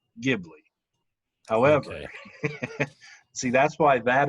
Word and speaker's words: Ghibli: well here's the thing there is no wrong way to pronounce it i'll start by saying that however maybe it is gilby gibby no it's okay so ghibli is i'll tell you